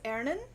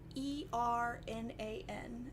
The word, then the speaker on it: Ernan: His name is Ernan. It means it means iron in Gaelic, because he's made of iron. He's my little iron survivor baby. How do you spell that? E-R-N-A-N.